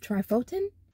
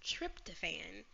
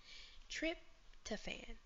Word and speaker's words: tryptophan: utilize and create more you think it's called trif trifotin at wrong the actual pronunciation of the word is tryptophan trip to fan which will help the